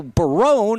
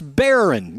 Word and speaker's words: Barron: Is that Barone? I go, Barone? It's Barron.